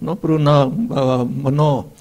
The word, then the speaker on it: mano: And mana, mano, O is pronounced O, mano.